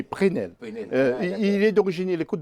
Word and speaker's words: Presnel: Alors, on ne prononce pas Presnel, mais Prenel.